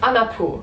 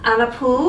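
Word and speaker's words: Anna Puu: Oh yeah, her name is Anna Poo. Anna Poo. But we have to explain that it is her last name is spelled P-U-U, and it means wood.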